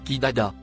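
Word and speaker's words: قددا: divisés en différentes sectes le mot en surbrillance jaune se prononcent qui dada il signifie déchiré en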